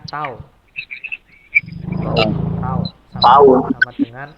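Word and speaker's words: τ: Ya, ini dibacanya yang hurufnya kayak T ini dibaca tau.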